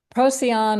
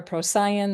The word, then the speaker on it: Procyon: And it's going to retrograde all the way back to the star Procyon or Procyon. There's different ways of pronouncing that star.